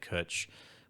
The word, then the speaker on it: cwtch: to it so like when we said kutch which is spelt c-w-t-c-h dot i-m is the url i haven't spent any